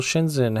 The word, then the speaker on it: Shenzhen: Shenzhen, how do you say it? What's the ZH? Can you ignore the H? Spoiler warning, you can't. ZH is its own sound in Chinese.